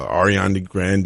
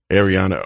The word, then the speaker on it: Ariana Grande: I get there at ten thirty beautiful studio Ariana Grande II I said her name wrong Arianna Arianna ground there I know who you're talking